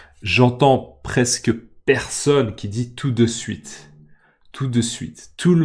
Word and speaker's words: tout de suite: options sont possibles et encore une remarque de prononciation tout de suite d'accord théoriquement on dit tout de suite tout de suite mais quand les gens parlent ils disent tout de suite d'accord tout de